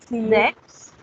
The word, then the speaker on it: sechs: Somehow we will pronounce this Zex.